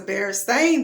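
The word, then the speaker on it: Berenstain: school so down there saying that the bear stein bears is pronounced the bear stained bears and i know for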